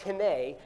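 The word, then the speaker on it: הִנֵּה: 2 times in that verse, there's a Hebrew word that's pronounced hine, and it's there twice.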